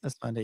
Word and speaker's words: Esfandi: Ayman Esfandi am I saying it right? Esfandi, yeah. Esfandi, yeah.